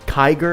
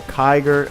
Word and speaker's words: Kiger: chat right now uh his Kiger am I pronouncing that right yes sir yes so kyger another Summoners were Chronicles